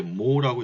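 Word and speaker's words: mho: 지멘스를 쓰기도 하고, 여기 이제 옴이라고 되어 있는데, 이 옴을 이제 아래위를 거꾸로 뒤집어 쓰게 되면 이제 모라고 읽게 됩니다.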